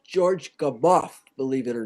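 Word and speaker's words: Gamow: reuben did wait uh jim it's it's george gabot believe it or not it's g-a-m-a-o-w but it's pronounced g-a-m-o-f-f believe it or not how's that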